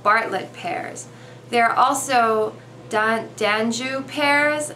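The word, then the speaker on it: d'Anjou: bartlett pairs they're also danju pairs i'm not sure how to say it i think it's dan joo d-a-n-j-o-u then there's also asian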